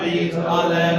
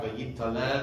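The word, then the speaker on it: ויתעלה: It's a common mispronunciation among those who aren't very, very well aware of it. V'yit hadar, v'yit aleh, v'yit halal. Right, so it sometimes comes up v'yit tadar, v'yit taleh, v'yit talal, and you haven't made a distinction.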